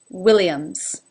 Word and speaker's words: Williams: Johnson number three Williams Williams starts with the W which is difficult sometimes for people whose native language is not English Syria lips have to start in that really small position Williams Williams Liam's so the first I is an a as in sit and the second is an e as in she Williams Jones Jones like